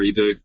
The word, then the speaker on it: Hiboux: you search for ebu you probably want to spell that out for people who will be listening to this later french words it's h-i-b-o-u-x yep fantastic cut the vowels off and you've got french there you go that's that's